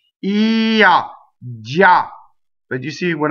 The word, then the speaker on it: già: The word già is a strong monosyllable. Già.